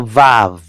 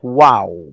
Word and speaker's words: vav: This is vav. German pronunciation. English American, they say wow. You know? English American, they will say wow. That's the Arabic is wa. Uh, but uh, here in our class, based on the German tradition, we pronounce this as vav. So it will really sound like bet without the dot.